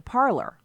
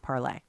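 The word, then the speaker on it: Parler: your tweets maybe you should head over to parlor parlez it's parlor comm but it's pronounced parlay remember I talked to you about that here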